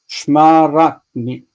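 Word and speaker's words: שְׁמַרְתַּנִי: We've got, okay, so in this case, instead of ani, it's just ni, because the taf itself wants to be the end of the word.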